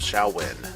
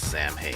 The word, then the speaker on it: Samhain: with that time thus was the celebrations of shall win and how do you spell shall win well